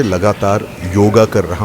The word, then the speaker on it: योग: जो शब्द है वह योग है योगा नहीं अंग्रेजों ने उसमें पीछे लगा के राम को रामा कृष्ण को कृष्णा गणेश को गणेशा बना दिया नहीं ऐसा होता है सबसे पहले तो हम